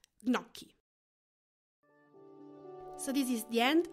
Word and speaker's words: gnocchi: In Italian language, G-N is pronounced gnu. It is not gnu. So for the same reason, you would say gnocchi and not gnocchi.